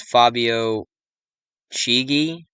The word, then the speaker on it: Fabio Chigi: days after the pope's birthday whose name was fabio chigi that's how you pronounce it a name equating the 201 as